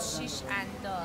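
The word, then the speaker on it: Shishandaz: I've been saying the name wrong till now. It's called shish and dos.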